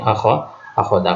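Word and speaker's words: أخذ: Wa innama akhadha, bukan akhzu ya, antum bacanya akhzu. Jadi yang tepat di sini akhadha. Kalau antum baca akhzu juga boleh sebenarnya, kan, tapi lebih tepat akhadha di sini karena kembalinya ke asy-syaikh.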